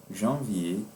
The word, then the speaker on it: janvier: Janvier est le premier mois. Como regra, não pronunciaremos este último R quando a palavra terminar em er como janvier, février, 1er, dernier, février.